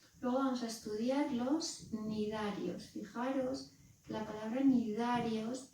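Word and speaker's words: cnidarios: Normalmente vosotros decís cenidarios. Bueno, eso está bien para que no se me olvide que lleva una C, porque si no la palabra no está bien escrita, pero no se dice. Son nidarios.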